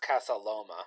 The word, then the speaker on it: Casa Loma: So I did look it up, and it was actually pronounced Casa Loma.